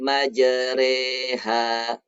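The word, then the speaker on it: مجراها: yang yang roknya itu tulisannya Mayor Roha tapi dipercaya bismilahi majreha Mbak Jere ha ya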